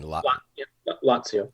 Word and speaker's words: Lazio: Maybe at some point we'll cover that area, Lazio. Did I say that right? How do you say that region for wine? Lazio.